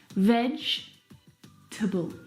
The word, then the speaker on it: vegetable: is a challenge because it looks like there should be four syllables in this word vegetable but there's not there are three syllables veg table can you see the